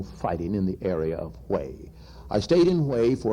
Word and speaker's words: Huế: And then I went up to Hue, that's H-U-E, Hue, in the very northern part of South